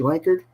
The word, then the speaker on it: Lankard: Did I pronounce that correctly? Lankard?